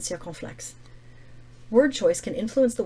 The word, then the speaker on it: circonflexe: As a 3-syllable word, this word stands out against the other 1- and 2-syllable words.